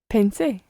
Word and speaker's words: pensé: Pensé. Pensé. And where, tell me, is the stress on that word? On the last syllable?